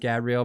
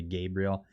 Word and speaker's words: Gabriel: Sorry, it's French, so I think it's pronounced Gabriel, but in English it would be Gabriel.